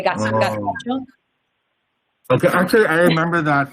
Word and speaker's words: gazpacho: So in Castilian Spanish, we have an accent where the Z's and the C's are pronounced like THs. So we say gazpacho.